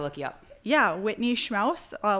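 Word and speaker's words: Schmaus: you up yeah Whitney schmow a last name is s c m a u s just like house schm oh nice I'm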